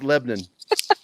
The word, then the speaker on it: Lebanon: too much lebanon missouri it's not lebanon it's lebanon uh and my phone is